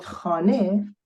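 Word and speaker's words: خانه: Even the word khane that ends with, in fact, A at the end, it is really has a he, which is silent.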